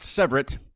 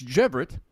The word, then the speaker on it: Cevret: couple weeks it's not sever it's actually pronounced with a G so it's jeevit so at least we